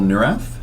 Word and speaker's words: Neurath: This is the Looking Glass podcast, and I'm here with Paul Neurath. Am I pronouncing that right?